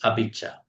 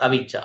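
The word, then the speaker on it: abhijjhā: Abhijja, not avijja, abhijja and visama.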